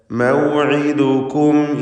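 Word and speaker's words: موعدكم: ഖാല മൗഇദുകും യൗമുസ്സീന, മൗഇദുകും. ഐൻ വ്യക്തമായി മഖ്റജിൽ നിന്ന് ഉച്ചരിക്കേണ്ട, പ്രത്യേകം ശ്രദ്ധിക്കേണ്ട അക്ഷരമാണ്. തൊണ്ടയുടെ മധ്യം, അന്ത്യത്തിൽ വന്ന സാക്കിനത്തായ മീം. മൗഇദുകും അതിനെ ഇൽഹാർ ചെയ്യണം.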